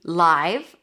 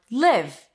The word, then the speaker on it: live: Then we have this could be live as in it's a live show then it's the I as in my live or live as in where do you live? Live then it's a relaxed I sound live.